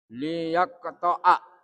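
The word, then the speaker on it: ليقطع: Kemudian Yaqta. Liyaqta'a. Bacanya begitu dalam Al-Quran. Liyaqta'a.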